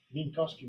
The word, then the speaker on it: Minkowski: The elements of A star M, or the Chow ring of M, correspond to Minkowski weights. W or V? W, right? But pronounced V.